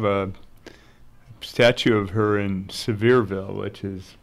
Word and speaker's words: Sevierville: have they have a statue of her in Sevierville which is right by where I was working severe they'll like a beer that's nice that's why are they pronounce it back there okay the big name